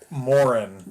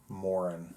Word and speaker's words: Maurin: Ed and mini Morin Moren um I I I Moren like a Warren with an M nope m a u r i n Moren yeah okay yep like